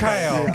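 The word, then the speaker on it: Kraków: Krakow. Why are we not surprised? Krakow. Oh, okay. You gotta say it like a bird. Like, Oh my goodness. cacao.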